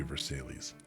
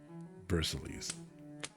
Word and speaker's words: Versailles: It sounds like there should be another syllable in there. You're saying it's ver and then you're sighing. Like, damn it, Sid, it's just ver. It has to be Versailles. Versailles. It can't just be sigh.